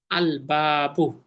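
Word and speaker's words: الباب: যেমন বা জবর বা, এটা হুরুফুল কমারিয়া, এবার লামের উচ্চারণ হবে আল বাবু।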